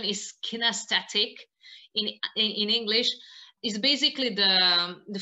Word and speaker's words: kinesthetic: I think the correct pronunciation is kinesthetic in English, is basically the feeling for your